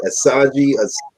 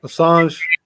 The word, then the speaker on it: Assange: uh was uh i know i'm about to mispronounce this dude's name help me out assad asajji oh assange yeah the leader yeah the leader of uh